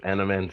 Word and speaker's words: adamantium: Adamantium.